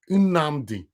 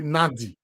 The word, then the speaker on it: Nnamdi: Kanu surname na Nnamdi. But someone like you will say Nadi. No, Nnamdi. That N, Nnamdi.